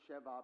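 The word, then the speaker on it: Sheba: I pronounce it Sheva because that Beth sound is pronounced as a V.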